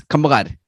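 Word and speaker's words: kammagar: It's kamagad.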